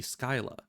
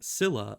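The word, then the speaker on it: Scylla: from sources uh then Sila would actually be Skyla which is how we used to pronounce it back when I was a kid but when I started playing this game I was hearing it saying Sila a lot so I just kind of went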